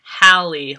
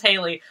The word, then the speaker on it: Hallie: Right here, it says, "Hello, my name is Hallie," and it has the pronunciation Hallie, like Halle Berry. Like, right after the my initial thing was to read it as Haley.